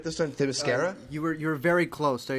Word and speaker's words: Themyscira: I am your co-host, Zachary Shevich, and joining me, the first man to step foot on ThiMascalis. Did I pronounce it right this time? Themyscira?